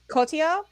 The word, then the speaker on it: Cotillard: Cotillard, Yeah, Marion you know, Cotillard.